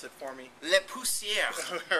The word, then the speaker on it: Le Pousseur: Can you please pronounce it for me? Le Pousseur.